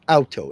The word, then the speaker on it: Auto: They call it alto. Au t o. They just pronounce the au is ow.